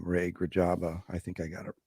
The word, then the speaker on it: Grijalba: Grijalba is how it should be pronounced.